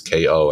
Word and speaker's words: KO: that name, I said my name is KO and everyone says Co. I said, okay, I got to figure this out. So I did K_O_.